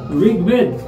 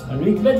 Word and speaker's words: ঋগ্বেদ: viewers একটু লক্ষ্য করো ঋগ্বেদ ঋগ্বেদ মানে এই ঋকার যেটা এই ঋ এর স্থলে র এ রস ইকার হয় ঋগ ঋগ থেমে গেছি তাই হসন্ত বেদ বেদ থেমে গেছি হসন্ত ঋগ বেদ ভিউয়ার্স পরবর্তীতে লক্ষ্য করো